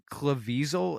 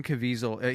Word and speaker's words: Caviezel: Italian last names anyway I think it's Jim Caviezel uh there's no L I think it's cavisil oh it's there's no l okay so it's Jim Caviezel he is the man